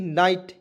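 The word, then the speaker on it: night: चलिए उसके बाद यहाँ पे देखिएगा, इससे रिलेटेड एक और एग्जाम्पल है NIGST, नाइट, इसे पढ़ेंगे दोस्तों, एन का उच्चारण ना के रूप में, IGST इसमें आइट जोड़ेंगे, नाइट हो गया, ठीक है दोस्तों।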